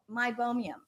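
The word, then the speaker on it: meibomian: how to spell it meibomium it's not my bone i b b i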